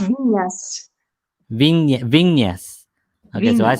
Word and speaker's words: Viñas: got that Yeah, the that squiggly line is an enye, so it's pronounced Viñas. Viñas. Okay, so I Viñas. said Vinas, so I'm way off.